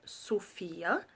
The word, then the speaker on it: Sophia: use at number nine we have the name Sophia or Sophia as we pronounce it in a region this is a really